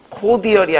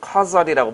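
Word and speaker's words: cordial: 코디얼이 아니라 발음은 커설이라고 발음하는데 그 편지에 맨 마지막에 커설 이렇게 써 있어요.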